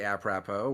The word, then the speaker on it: apropos: I did say apropos. We're just gonna keep it going, and we're just gonna. That's how you say it.